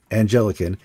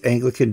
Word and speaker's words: Anglican: you can spell it it's not Angelic it's Anglican incd donate and you